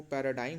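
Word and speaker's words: paradigm: पर्व निगम नहीं है इसका जो प्रनंसीएशन है वह पैराडाइम है पैराडाइज यहां पर साइलेंट रहता तो हम इसे पड़ता है पैराडाइम एक ना उन्हें बड़ा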